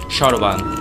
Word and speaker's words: সর্বাং: সর্বাং এর উচ্চারণ হবে সরবাং।